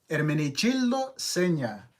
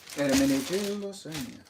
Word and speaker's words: Hermenegildo Zegna: thrift store there, and I wanted to hear straight from a person that knew how to say the Zegna brand. And I was like, hey, ¿estoy diciendo esto correcto? Hermenegildo Zegna. And he was like, yeah, sí. And I asked him if he could say it, and he said it, and it was. So I'm glad I'm saying it correctly, you know.